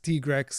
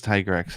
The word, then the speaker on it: Tigrex: the biggest one yeah growing up it was always tigrex to me tigrex yeah it should be tigrex t-rex is just so weird and capcom even stated it was tiger x and then when they went to recording they decided nope let's make a t-rex yep yep they would